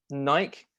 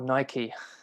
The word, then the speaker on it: Nike: Nike or Nike. I'm in North America now. I know, it's like, but people pronounce it both ways, even in North America.